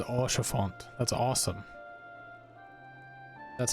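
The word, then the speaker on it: Haurchefant: I love how it says Orchefort. That's awesome. That's how it's supposed to be pronounced.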